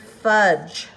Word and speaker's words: fudge: it let's look at the word fudge here is our phonogram this is a silent e well or I want to say not really a silent e that's the wrong term it is a an e that is like a fill the space you have to end with something you cannot end a word with i Ju or B